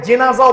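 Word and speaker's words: جنازة: সাল্লাম বলেছেন, ইযা উদিয়াতিল জানাজা, জানাজা মানে মরা মানুষ, আমরা তো জানাজাই বলি। ইযা উদিয়াতিল জানাজা, এটাকে জেনাজাও পড়া যায়, দুই ভাবে উচ্চারণ করে।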